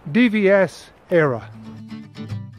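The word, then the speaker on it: DVS Éire: It's my initials, DVS, and it's Era, which is one of the Irish names for Ireland. So that's it, DVS Era.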